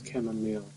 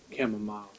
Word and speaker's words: chamomile: we can't be seen camomile te is pronounced as chamomile not camomile hi I'm just like